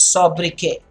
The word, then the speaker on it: sobriquet: The better word that I want you all to know is sobriquet. Sobriquet. Okay, sobriquet. Very, very important, guys. Sobriquet. Now, the T there is silent.